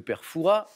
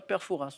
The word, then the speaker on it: Perfa: comme passe partout et perfa attention il y a un s à la fin mais les puristes ne prononcent pas le S de foura on dit pas perfas on dit perfa et je vous invite